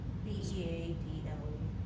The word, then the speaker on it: beadle: No, Like, with a sounds D, like the bug. but sounds like the bug. Okay. Oh, beetle. Or what would you say? Beadle. Spelled with a D.